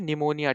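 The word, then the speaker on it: pneumonia: हमने देखा यहां पे निमोनिया ठीक है निमोनिया भी जो है आपका है यहां पे पी साइलेंट रहता है तो इसलिए आपका यहां पे पी स्टार्टिंग में रहेगा तो निमोनिया आपका होता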